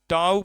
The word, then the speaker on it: psi: bonding भी कहते हैं टा पढ़िए पी साइलेंट है टा बंड अभी तो